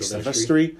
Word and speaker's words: Silvestri: So, like, I feel like that scene, as epic as it is, the score, Alan, how do you pronounce his name? Like, Silvestri? Yeah. Is it Silvestri?